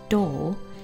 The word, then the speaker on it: 動: It's pronounced door and we're going to be using it in the word meaning automobile.